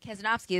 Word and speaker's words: Kazanofski: in now i am here with paulie kazanowski kazanovsky am i pronouncing it right yeah i said it perfect